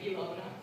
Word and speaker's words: Ilona: But that's why my name is spelled with an I, and it's like Ilona. Because in Finland, our I is pronounced like E.